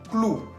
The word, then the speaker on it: clou: Otro ejemplo que sigue, clou. Clou. Se escribe con la O-U al final, que tiene sonido U. Entonces, leyendo todos juntos, vamos a decir clou.